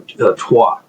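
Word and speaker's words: Troyes: M uh there was this bishop uh his name was Darcus Pierre Darcus who was bishop of Troy or Tua as it's pronounced in French and he wrote uh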